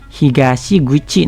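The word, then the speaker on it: 東口: Nah, kalau kita hubungin sama kanji mulut yang tadi, ini kita bisa tempel higashi sama mulut yang tadi. Yang mulut yang kuchi tadi nanti dimaknainya juga sebagai pintu. Higashi guchi nanti dibacanya.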